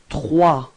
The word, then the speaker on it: trois: Okay, and then comes trois. Okay, so remember that O plus I gives you this wa wa wa sound. Okay, and then the final S is not pronounced. So you get this trois.